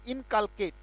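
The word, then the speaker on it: inculcate: और मेरे साथ बोलेंगे सारे के सारे, और बड़ा प्यारा शब्द है, बोले इनकालकेट, शाबाश, बोलेंगे इन काल केट, शाबाश, बोलेंगे इनकालकेट, ये उच्चारण है बेटा इसका, इनकालकेट।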